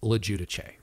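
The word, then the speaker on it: LoGiudice: researching the correct pronunciation, I am 99% sure that the correct pronunciation is Lojudice.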